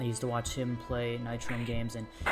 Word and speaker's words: Nitrome: to watch him play Nightrain games and he always mispronounce the name he called it NIT room and it always kind